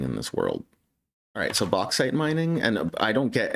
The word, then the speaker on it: bauxite: they have a pronunciation can you teach me how to say it say it bauxite I was saying it right bauxite yeah bauxite killing it